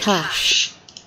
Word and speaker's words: cache: this is how i pronounce it cash cash is in cash but we do it